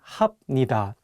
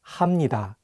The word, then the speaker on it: 합니다: For example, if you just read the Hangul on their own, you might want to say 입니다 and 합니다. But the correct pronunciations are actually 입니다 and 합니다.